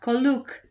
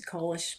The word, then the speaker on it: Koluk: Yeah, Koluk. That's how they would say it. I mean, it got shortened over the years to Kolish, but Koluk is how they say it.